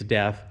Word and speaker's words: DAF: with these things and he said it's pronounced uh like how we say death so i guess with their accent or how they say it's death um how we say